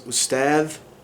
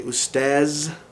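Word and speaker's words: أستاذ: The word for like professor or teacher or sir is ustadh. They would say ustaz.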